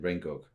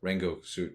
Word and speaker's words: Rengoku: there between Sabito and Rengoku. I'm sorry, I'm trying to say it the way where you don't pronounce the U at the end.